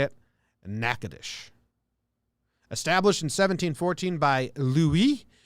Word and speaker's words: Natchitoches: Natchitoches.